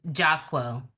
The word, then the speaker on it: Jahquel: I can hear you it's jaquel oh okay jaquel okay so the accent is on the J not the okay okay